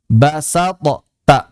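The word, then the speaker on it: بسطت: Cara membacanya adalah kita sudah mempersiapkan huruf ta 100%. T-nya sudah 100% ditambah sifat itbaq. Nah, ditambah itbaq. Ditambah idal dari th. Jadi sudah lidah itu benar-benar di T basat cuma ada tebalnya basat.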